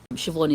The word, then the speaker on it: Siobhan: Um but in traditionally, Siobhan is spelled s i o b h a n in the Irish way.